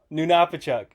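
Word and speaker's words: Nunapitchuk: uh hold on let me I know I butchered it how' you say it again nunuk na Napa chuk na Napa chuk all right y so that's uh about 400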